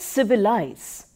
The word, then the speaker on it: civilize: give you some examples the word civilize is pronounced with stress on the first and the third syllables when we make it